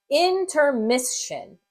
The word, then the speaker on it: intermission: And when I blend it, notice that here there's something special going on. Intermission, intermission. Here, this S in this syllable is going to kind of assimilate to that S in the shun. So it's going to say intermission.